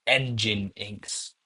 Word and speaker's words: Nginx: It's uh It actually is pronounced engine inks. Engine, like car engine, X.